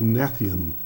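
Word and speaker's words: gnathion: pronunciation because uh you I believe the G is silent. So, let me spell it for everybody that's listening. G N A T H I O N. So I believe will be pronounced Nathan.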